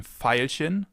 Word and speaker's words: Veilchen: It can either be pronounced like the F, as in Veilchen, Veilchen, or like a V, as in Violine, Violine, violin.